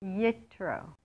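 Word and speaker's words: יתרו: How do you say his name in Hebrew? Yitro.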